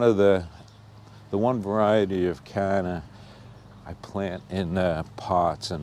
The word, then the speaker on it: canna: Mostly cannas or cannas, however you want to pronounce it. I think the right way is canna.